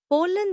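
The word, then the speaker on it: pollen: पोलन नया लफ्ज पॉलिन इसको तोड़ते हैं पोले जोर पॉल पर है। पी ओ एल एल ई एन पोलन the yellow dust इनाइड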